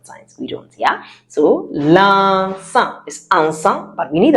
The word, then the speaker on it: l'encens: That is l'encens.